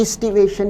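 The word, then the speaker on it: aestivation: ईस्टिवेशन, इस शब्द का उच्चारण है ईस्टिवेशन।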